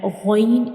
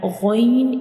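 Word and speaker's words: غ: of the throat, and ghain is pronounced from the upper part of the throat. These two letters are throat letters and they are pronounced from the throat. And ghain is also a bold letter, so we will read it with heavy sound.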